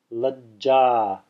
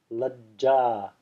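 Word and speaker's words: लज्जा: So the Sanskrit example here is Lajja. See it there? Lajja. Lajja. Hopefully that's visible. Having technical difficulties here. Yeah, there it is. Lajja. Lajja. Notice how I'm putting a pause there. I'm not saying lajja, I'm saying lajja.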